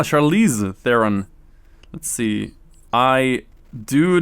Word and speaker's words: Charlize Theron: was it charlie oh charlie's theorem am i saying a name wrong maybe charlize ah charlize theron let's see i do